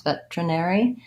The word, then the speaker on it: veterinary: tough to spell veterinary this is one I think where we don't really match the letters to the sounds veterinary so I don't really